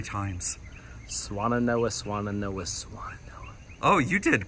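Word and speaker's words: Swannanoa: Swananoa, said yes. That 3 times. Swananoa, Swananoa, Swananoa.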